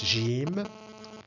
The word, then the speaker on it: ج: is the Arabic alphabet this is how it's pronounced Jim and this is its equivalent in English it's